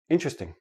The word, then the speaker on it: interesting: you to understand that the word is interesting but in everyday speech interesting interesting interesting I have four syllable syllables when I actually say it naturally it becomes three syllables and the T and the r become like a CH but that's we'll talk